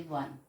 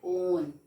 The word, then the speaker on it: one: is start we say one we never said on we never say own we say one w l e so one is starting with w and that's why we